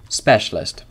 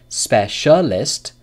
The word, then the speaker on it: specialist: so you can sit you can change specialist to two syllables specialist specialist the word can have two syllables or three syllables so when can a